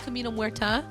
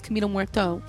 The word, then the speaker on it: Camino Muerto: I've always said Camino Muerta, but I think the correct pronunciation is Camino Muerto.